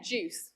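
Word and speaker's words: GUCE: was going to say juice it's soft G Soft C and we use juice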